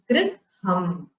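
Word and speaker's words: gṛham: This is the rkara which is added to the ga varna to make it a gunitakshara gr. So griham. You should pronounce it as griham.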